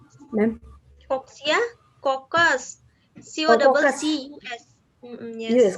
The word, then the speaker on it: coccus: One coccia, ma'am. Coxia? Coccus.